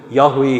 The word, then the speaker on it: Yahweh: hi nahi this is okay vin hi chu pronunciation chu Yahweh hi ti jong hi vin hi chu Yahweh